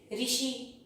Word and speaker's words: ऋषि: हिंदी भाषा में अब इसको, इसका जब उच्चारण करते हैं तो हम इसको री बोलते हैं, क्या बोलते हैं, री बोलती हैं। जो संस्कृत से हिंदी में आ गए हैं, जैसे ऋषि, ऋतु, ठीक है, ये सब संस्कृत